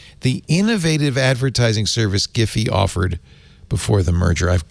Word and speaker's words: Giphy: Okay, the CEO of Giphy calls it hard G.